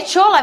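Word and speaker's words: Shola: É Chola mesmo que fala? Olha, eu falo porque, primeiro, ele é nigeriano, o nome dele é assim que se escreve, S-H-O-L-A. Aí eu pronuncio dessa maneira.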